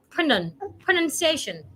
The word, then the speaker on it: pronunciation: The word has n u n, not n o u n. So, there is no noun there. It's nun. Pronun- pronunciation.